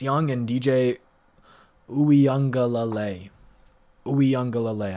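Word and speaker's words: Uiagalelei: and dj uyanga lalay ooyangalalay apparently that's how you pronounce it okay thank you ryan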